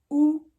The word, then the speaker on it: U: ou attention parce que le U se prononce ou en allemand fa pour le V